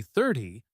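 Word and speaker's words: thirty: If I say 30, the stress is on the first part, thir, and the ending is a soft tie.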